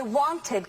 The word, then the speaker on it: wanted: And how many syllables does wanted have? 2. That's right. There are 2. Where's the stress in wanted? On the first syllable.